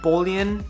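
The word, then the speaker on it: Bolian: the future vin wiki's ed bullion is how you say his last name at bullion and bullion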